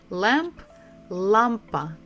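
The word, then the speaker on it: лампа: pretty much the same Lampa Lampa we stress the first syllable La Lampa Lampa Lampa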